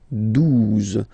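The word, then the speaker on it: douze: 12, 12, O, U, the two together will give you the sound OO, okay?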